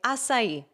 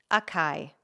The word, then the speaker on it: açaí: E um exemplo que eu sempre gosto de dar é açaí, por exemplo. Eu aprendi acai.